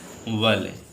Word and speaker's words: valet: और नेक्स्ट और लास्ट वाले, टी साइलेंट हो जाएगा, क्या पढ़ेंगे इसे? वाले। ठीक है, VALET माने खिदमतगार या नौकर।